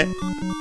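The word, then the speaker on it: へ: Then we have the particle e, written as he, but pronounced as e.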